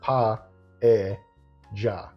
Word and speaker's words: paella: it right but it's PA J the Spanish pronounced the two L's as kind of a mix between yah and J and that's like right